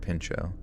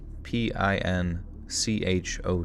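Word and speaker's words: Pinchot: it's yeah it's spelled p i n c h o t and it sounds like they're saying the pinch part but then finishing it with o so pincho you think some new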